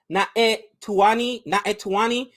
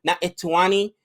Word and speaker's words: Naitanui: If I mispronounce that, let me know. But I know in Hawaiian, and it looks like a Hawaiian last name. Usually the N and the I, you got that accent, so it should be Naitanui.